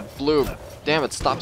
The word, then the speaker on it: Bloob: Plinky blob. No, it's a bloob. Damn it, stop saying blob. It's a bloob.